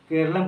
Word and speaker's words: केरलम: और दूसरा 8वीं अनुसूची में 22 भाषाओं का जिक्र है, तो 22 भाषाओं में भी केरल का नाम केरलम कहा जाए, ना कि केरल के नाम से उसको उल्लेख किया जाए, उसको प्रोनाउंसिएट किया जाए, केरलम कहा जाए।